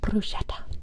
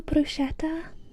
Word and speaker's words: bruschetta: Bruschetta. Bruschetta? Does Florence do bruschetta? Probably some grapes. No? Did I say it wrong? Oh god, I'm sorry, Italians. I'm sorry. Bruschetta. Bruschetta.